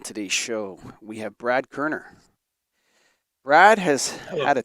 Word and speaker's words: Koerner: His last name is pronounced Koerner. It says that right on the bio there, so I'm just letting everybody know it's Brad Koerner.